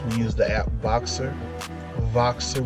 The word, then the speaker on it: Voxer: use the app boxer voxer with the v it's spelled like boxer but instead of a b there's the letter v like vixen voice you know those things